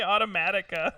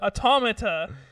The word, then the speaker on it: Automata: Nier Automata has been available on Steam. Automata. Oh, is it Automata? I'm sorry. I don't know why I want to say Automatica.